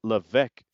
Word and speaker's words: Levesque: in the new era, the Paul Triple H Levesque era. I didn't know how to pronounce his last name.